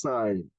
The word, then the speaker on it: sin: tangent however sign okay is written in short form as s i n and please it is still pronounce sign not sun is that clear yes